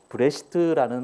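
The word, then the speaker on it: בְּרֵאשִׁית: 창세기라는 히브리 말은 브레시트라는 말인데, 이것은 태초에입니다.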